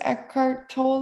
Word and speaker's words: Eckhart Tolle: So, I think it was Eckhart Tolle, if I'm saying, is that how you pronounce his name?